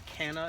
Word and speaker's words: Canna: in all my videos anyhow so these are Cana plants or Canna as somebody pronounces as some people pronounce them they're c-a-n-n-a